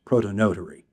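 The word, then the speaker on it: prothonotary: This is another ambassador for wetland areas are swamp canary or prothonetary warbler or in England it would be pronounced protonotary warbler.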